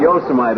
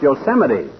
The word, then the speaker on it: Yosemite: Park uh huge am I no but not Yosemite Old Timer that's pronounced Yosemite what kind of work were you doing ruin